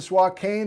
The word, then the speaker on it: Swakane: moses coulee for instance why is the swat cane have a long a and spokane pronounced with a short a i don't know bob